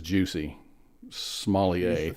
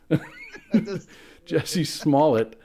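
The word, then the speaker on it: Jussie Smollett: Jesse I can't not my go-to pronunciation of his name is Juicy Smallier thank you Jesse Smalllet um who was an actor on Empire.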